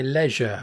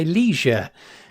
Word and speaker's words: leisure: at my leisure or at my leisure uh to use uh the the American pronunciation. There was an album once, perhaps Safios would know this or one of you would know this. It was called Leisure Seizure, but obviously, yeah, it rhymes in in in American,